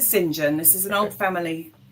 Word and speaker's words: St John: Is it Do you pronounce your surname St. John or Singen? Okay. So, we're pronouncing Singen.